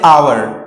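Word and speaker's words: hour: अब इसमें भी साउंड पहले आ की आ रही, यानी हम जो हमारे पास पहला लेटर एच है वो यहां पर साइलेंट है, तो हम वर्ड ओ से शुरू कर रहे हैं।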